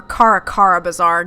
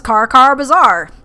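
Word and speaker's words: Kara Kara Bazaar: nothing unusual here or Caracara bazaar Jesus Christ sorry guys this is ripp Saavik this is Carcar bazaar Joy's been saying it wrong for the past 15 minutes ignore her guru no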